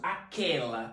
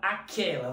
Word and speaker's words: aquela: é dígrafo neste caso aquela aquela você não consegue pronunciar a letra U aquela é como se sumisse você escrevesse com K ficaria assim aquela você